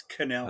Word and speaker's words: Connell: is Canal space say it right it's Canal oh sorry sir um